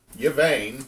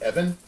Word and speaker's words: Yvain: Which, fun fact, Yvain, which is how most people pronounce Yvain's name, Gawain's little brother, cousin, depends on how it gets wobbled. His name's actually supposed to be pronounced Evan, Makes sense.